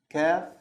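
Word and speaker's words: ك: Okay, the next one is kaf. Kaf, like the English K. Or kaf, kaf. This is the normal K sound, but there's something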